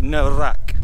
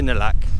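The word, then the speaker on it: น่ารัก: cute by the way it's actually no rack but no one pronounces yard now though so just say nalak what do you think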